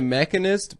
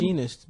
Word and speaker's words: Machinist: He made the Mechanist before he did Batman. Is that how you Begins. pronounce it? Machinist, bitch.